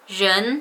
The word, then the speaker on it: 人: And second of all, person in Chinese is 人, while a lot of people who speak English as their first language would pronounce it as 人, because that's how it's pronounced in English. But in Chinese, in Mandarin, that should be 人. It's not 人.